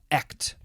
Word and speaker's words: echt: to do that but it's pretty much just like act act yeah it probably has